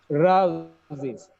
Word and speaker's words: rose: It is not rose. Sometimes we say rose. It's not roast actually. The pronunciation of the word is rouse. The last sound is not s, the last sound is z.